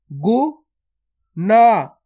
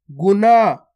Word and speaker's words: गुना: इसमें तो ना का उच्चारण हो रहा है और इसमें अणा का उच्चारण हो रहा है। कैसे हो रहा है, गुना, और इसको कैसे पढ़ेंगे, गुणा, गुणा, और इसको गुना।